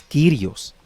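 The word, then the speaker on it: Κύριος: Ahí puede ver usted la forma en que se escribe, pero su pronunciación es Kyrios.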